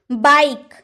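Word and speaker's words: bike: बी आई के बाइक लेकिन हम लोगों ने ई लगाया क्योंकि अगर लास्ट में इ रहे ना तो उसका उच्चारण होता ही नहीं है।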